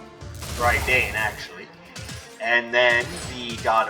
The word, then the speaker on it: Raiden: Which again puts it a little bit in parallel to the Shinto versions, Raiden, of course, or more commonly pronounced Raiden, but in Japanese it should be Raiden. Raiden, actually.